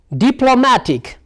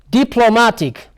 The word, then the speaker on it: diplomatic: on here now decisive diplomatic diplomatic you see diplomatic so the stress lies here now diplomatic diplomatic after dip and then lo and dma tic so i'm sure that